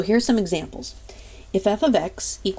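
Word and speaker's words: f(x): f * X but it's really pronounced f of x so F and with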